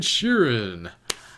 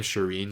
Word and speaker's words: Sheeran: Lannister men featuring ed sheeran I was pronouncing his name Shireen like Shireen Baratheon but it's ed Sheeran I don't know if